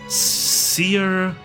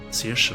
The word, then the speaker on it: Saoirse: Her name is pronounced Saoirse. It means freedom in Gaelic. Saoirse.